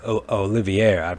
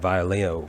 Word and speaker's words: Olivier: to help i apologize i said his name wrong it was olivier i don't know where i got violio from but uh yeah olivier shows